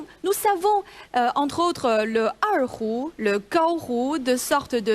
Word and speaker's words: erhu: Je crois que j'ai bien prononcé l'erhu. Oui, erhu.